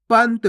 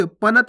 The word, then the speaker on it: पंत: पंत कैसे पढ़ेंगे? पंत, पनत नहीं, पंत।